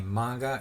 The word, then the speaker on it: manga: decided to start doing a review of a manga every monday and yes i am pronouncing it manga because i was told that